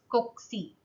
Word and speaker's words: cocci: This is pronounced as cocci or cocci, okay, which is of spherical or round shape.